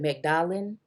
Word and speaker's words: Magdalene: I'm going to call her Magdalene, but I know some people pronounce it Magdalene.